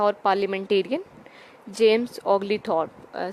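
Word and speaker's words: Oglethorpe: that एक social worker था और parliamentarian James Ogli थॉर्प spelling बता देती हूं जेम्स जे एमएस जेम्स के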